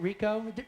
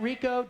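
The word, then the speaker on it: Ricoh: This is for, am I saying this right, Rico? Mark, am I saying that right? Rico Digital Camera. Is that right? All right. Rico. It's a good there prize. We go. Rico, R-I-C-O-H, the Rico good prize.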